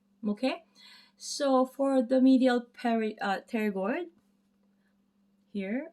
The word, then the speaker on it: pterygoid: I'm gonna, oops, sorry, together because it's a medial pterygoid. I always say the P word, but there's a P in front of it. But it's pronounced as pterygoid, right?